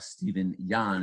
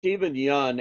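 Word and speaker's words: Steven Yeun: And the guy who plays the father in Minari, Stephen Yan, if I'm pronouncing his name correctly. It's Stephen Yun, and it's called Minotti, the It's movie.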